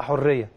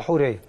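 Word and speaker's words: حورية: حريه سحب هو حوريه ولا حريه؟ حوريه حوريه مش كده؟ لان في ناس بتنطق حريه، هو حوريه.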